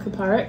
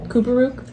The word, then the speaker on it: Kuparuk: There's a place in Prudhoe Bay called Kaparik. Mm-hmm. I'm pretty sure that's how you say it. And new people always pronounce it Kuparuk.